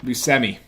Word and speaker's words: Buscemi: Buscemi. I used It's to say, pronounced Buscemi.